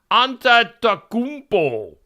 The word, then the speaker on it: Antetokounmpo: on the celebrity side, Giannis Antetokounmpo is how you say that, or something close to that.